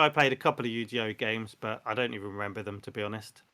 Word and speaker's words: Yu-Gi-Oh: It's Yu-Gi-Oh. It's Yu-Gi-Oh. Yu-Gi-Oh. No, That's how you pronounce No, it.